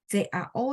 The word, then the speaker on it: cao: Jadi CAO, cao, cao karena dia nggak ada H, lidah saya datar.